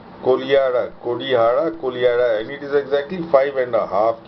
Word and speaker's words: Kodihara: It's spelled Kodihara, but it is pronounced Kolihara. Kodihara, and it is exactly 5.5 kilometers southeast of Hathiyama, just as Huen Tsang had prescribed.